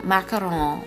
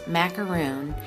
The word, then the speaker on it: macaron: His best-selling macaron, which we Americans would pronounce macaroon, is called ispan.